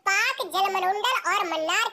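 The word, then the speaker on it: Palk: है यह पाक जलसंधि पी ए एल के को हम पाक कहते हैं ठीक है ना इसमें ल साइलेंट होता है मैक मोहन रेखा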